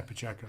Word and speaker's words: Pacheco: Yeah, Pacheco.